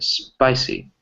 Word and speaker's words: spicy: Spicy. Spicy. Spicy, yeah, so that the stress is on the SP, right?